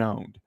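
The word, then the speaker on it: pwned: It's a P, but you pronounce it. Have I been owned?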